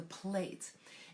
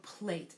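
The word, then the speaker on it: plait: And there are a couple different ways to pronounce the word. It could be either plat or plate.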